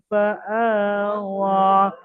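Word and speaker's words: فَآوَىٰ: ফাআওয়া, ওয়াও খাড়া জাবার ওয়া, ওয়াও সাকিন ওয়াও খাড়া জাবার ওয়া, ইয়াটা লেখায় এসছে, পড়ায় আসবে না, ইয়াটা পড়ার মধ্যে বাদ যাবে, ইয়াটা বাদ দিয়ে পড়তে হবে।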